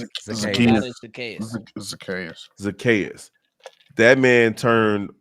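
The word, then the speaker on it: Zacchaeus: Zakius. Zakayas.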